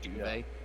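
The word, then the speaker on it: Duvey: There's The a worst part is he says the T is silent, but duvet, his actual name, it hasn't got a T in it. It's it's D-U-V-E-Y. It's just duvet.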